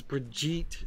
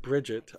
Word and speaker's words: Brigitte: Apparently it's Brigitte, not Bridget. I kept saying Bridget, and then I heard somebody else pronounce it, and I'm like, oops, whatever.